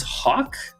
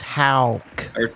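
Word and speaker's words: Haugh: No, it's Hal. Hal. So, remember like you're saying how how are you? How? And then put a K after it.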